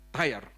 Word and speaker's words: Tyre: Bahasa Inggrisnya bacanya apa ya? Tyre atau Tyre? Tyre.